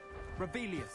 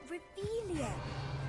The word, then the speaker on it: Revelio: Revelius. Saying it wrong. Ugh, Revelia. Much better.